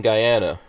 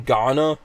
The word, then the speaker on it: Guyana: caught the part where they were mispronouncing guyana and i was like yeah damn you people you know can someone first they were saying ghana they would you know